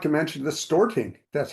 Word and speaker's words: Storting: Yeah, not to mention the Storting. That's how it's pronounced.